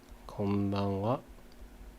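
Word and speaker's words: こんばんは: Kon ha becomes ba. Konbanwa. Ha becomes a wa when you pronounce it here.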